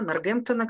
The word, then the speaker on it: Нортгемптон: Нортгемптона, как правильно говорить по-русски, это из Англии.